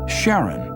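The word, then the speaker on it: Charon: Christy suggested the name Karen after the ferryman of Pluto's underworld in Greek mythology but preferred to pronounce it Sharon more like his wife's name Charlene from the Motions of Pluto and Sharon astronomers could work out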